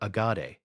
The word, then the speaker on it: Agade: He named the city Akkad, or Agade, in its original Akkadian pronunciation.